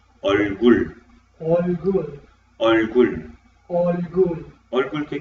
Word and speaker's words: 얼굴: Pronunciamos 얼굴, All good, 얼굴.